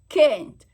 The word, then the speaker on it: kennt: Ach, der mich liebt und kennt. Okay, it's the ENT, kennt, and.